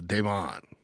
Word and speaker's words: Demon: Some people say it's But it's De M O N Clowny. Uh, and I I saw in a media guide, I think it was from Miss Don. So Don, but it's it's spelled Demon. So, Don Clowny, uh, and you know, good day.